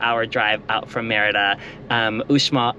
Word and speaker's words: Uxmal: drive out from Merida, Uxmal, and that is how you pronounce it. I asked the guy taking tickets, is it Uxmal or Uxmal? And he said Uxmal. I get really confused with the X in Spanish.